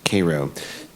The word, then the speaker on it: Cairo: Now, in Cairo, Illinois, it's spelled like Cairo, but they pronounce it Cairo.